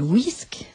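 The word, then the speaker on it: WISC: une vision objective alors le test le plus utilisé s'appelle le whisk ça s'écrit W IC nous en sommes à la 4e version il s'appelle whisk 4 la 4e version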